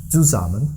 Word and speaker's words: zusammen: So zusammen. With buzzing S. Yeah, the S is always buzzing when a syllable begins with it.